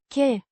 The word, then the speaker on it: că: Pronounced. Che. Similar to the că in cucumber, but shorter.